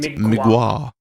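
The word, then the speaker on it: Mgła: Metallum, pronounced migua means fog in Polish.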